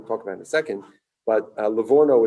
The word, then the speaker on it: Livorno: about italy levorno or i think in in english it's also pronounced or written leg horn or layhorn it's a city it's a city in italian it's called livorno exactly it's also in in